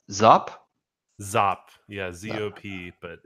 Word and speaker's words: Zop: Is that pronounced Zop? Zop.